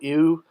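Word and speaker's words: iw: You know an animal lying down, like the baby antelope, pronounced I-W, ew.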